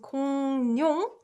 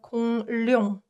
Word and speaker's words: 공룡: So it's pronounced 공룡 instead of 공룡 because it's a lot more comfortable for us.